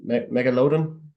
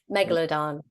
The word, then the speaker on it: Megalodon: see here yeah first uh I'm probably not pronouncing this right uh Mega loon Megalodon sorry Megalodon yeah that that's a am I